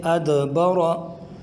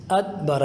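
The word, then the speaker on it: أدبر: میں سے بھی ہے، لہٰذا قلقلہ کر کے پڑھیں گے، یوں پڑھیں گے ادبر، ادبر، ادبر۔ جب قلقلہ کر کے پڑھیں گے تو یہ درست تلفظ اور تجوید سمجھی جائے گی۔ اگر ہم اس کو یوں پڑھیں گے، دیکھیں ادبرا، یعنی اس میں اگر قلقلہ نہیں کریں گے تو یہ دال یہ تا سے تبدیل ہو جائے گا۔ دیکھیں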